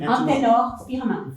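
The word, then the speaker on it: Anténor Firmin: Antenor Firmin.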